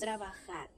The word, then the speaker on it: trabajar: Trabajar. ايه trabajar. trabajar. trabajar. تاني تعالوا ننطقها تاني. Trabajar. trabajar. trabajar. تقريبا الجي بتنطق خ.